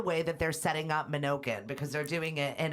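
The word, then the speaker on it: Menokin: It is Minokin.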